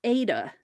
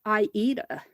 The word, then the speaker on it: Aida: I got corrected very early on in my stitching journey many years ago that it's not Ada, it is Aida.